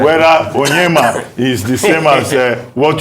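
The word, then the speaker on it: Onyeama: It's like the spelling for the foreign minister has A. But you don't pronounce the A. It's Onyema.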